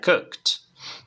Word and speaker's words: cooked: En este caso, termina en T. ¿Vale? La pronunciación termina en T. Entonces, practicamos. Repite conmigo, forma base. Cook. Cook. Y ahora pronunciación en pasado con T.